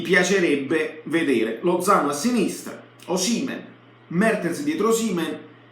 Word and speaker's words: Osimhen: Confermiamo Osimhen con l'accento sulla E stavolta, lo confermiamo al centro.